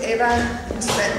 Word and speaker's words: Eva: My name is Eva, and I'm pronouncing Eva the Spanish way. In Dutch it would be Eva.